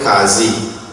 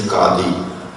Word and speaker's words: Qadi: Our panchayat will be headed by in Trinidad they call it Qazi. The correct pronunciation is Qadi.